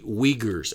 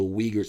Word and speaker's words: Uyghurs: with the uh we uyghurs i hope i'm pronouncing that right it's hyphenetically spelled it would be w-e-e and then i spelled it g-u-r-h that's not how it's